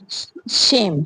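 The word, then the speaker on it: shame: Next है शेम, शेम में भी क्या है, ई साइलेंट हो गया है।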